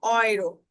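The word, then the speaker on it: Euro: ইউ যখন একসাথে থাকবে, অর্থাৎ এবং উ, এবং উ যখন একসাথে থাকবে তখন তার উচ্চারণটা হবে অয়ে, অয়ে, যেমন অয়রো, যেমন অয়রো, অয়রো মানে ইউরো, ঠিক আছে?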